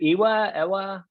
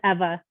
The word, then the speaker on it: Ewa: Ewa? I'm sorry, I'm not good. No, it's good. It's Eva. It's a little bit Eva, different.